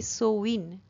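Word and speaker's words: Samhain: the dark Knights after সোইন নাউ এস এ এম এইচ এ আই এন উচ্চারণটা হবে সোইন এটার বিষয়ে তোমাদের টেক্সট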